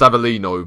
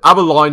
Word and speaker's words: Avellino: I know I know it's pronounced Avellino but abberline no I didn't realize